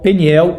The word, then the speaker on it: Peniel: Diz assim, aquele lugar chamou Jacó Peniel ou Penuel, como as duas pronúncias estão corretas, pois disse, vi a face de Deus e minha vida foi salva.